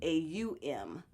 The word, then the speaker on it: Aum: But the actual Sanskrit spelling, which is an old Indian dialect, is spelled A-U-M.